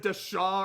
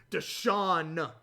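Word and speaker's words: Deshaun: the shot one that i didn't pronounce the n i think i said deshaw or like deshad deshawn watson going to cleveland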